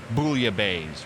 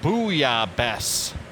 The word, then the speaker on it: bouillabaisse: People call it bouillabaisse, right? Yes. It's not. It's bouillabaisse. Bess at the end, not bays.